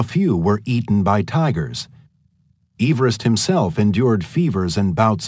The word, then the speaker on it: Everest: Everest who pronounced his name Everest rather than the more commonly heard Everest not only never saw